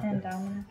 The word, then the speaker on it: Indominus rex: when the Indominus Rex, I keep saying his name wrong. Indominus.